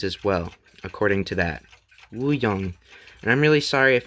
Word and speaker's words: Wuyang: This is pronounced Wuyang, and I typed it into Google Translate, which